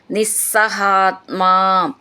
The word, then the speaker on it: നിസ്സഹാത്മാം: അക്ഷരം നന്നായിട്ട് ഊന്നി പറയാനുള്ളതാണ് നിസ്സഹാത്മാം സ എന്ന് ഡബിൾ ആയിട്ട് ചൊല്ലണം സഹാത്മ ചേർത്ത് ചൊല്ലുമ്പോൾ ന എന്നും ഡബിൾ ആയിട്ട് ചൊല്ലാനുള്ളതാണ് അർത്ഥനൈർ നിസ്സഹാത്മ താം സൗമിത്രൗ